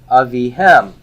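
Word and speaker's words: אביהם: Avihem. Avihem. So why do I have the compound Shiva here with Avihem? Where's my stress? It's on the hem.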